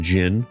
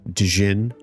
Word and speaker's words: Djinn: I had always thought that the D in Jinn was a letter that you would pronounce. I can't have been the only one to do that, right? Accidentally call them Djinn.